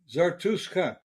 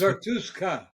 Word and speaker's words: Zarutska: Zarutska. It's with a K, SKA. Zarutska. Yeah. With a K. No, Zartuska. No, it's Zarutska. Yeah. There's a T? You just can't pronounce it.